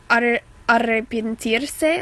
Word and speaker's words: arrepentirse: So arrepentirse, I'm sorry, you should roll your R there, but I'm not very good at it.